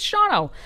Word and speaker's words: Shawano: We're talking about Shawano, spelled Shawano for any of you who are not outside of the state would probably pronounce it as such. It's Shawano.